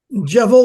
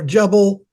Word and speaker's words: Jebel: some of suggest the jevil or jebil Al laws Al laws is in uh Saudi Arabia uh the different spellings are jevil um in Hebrew the B is pronounced with a V so um or a